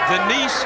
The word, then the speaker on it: Denise: It's not Dennis. It's Denise Storm.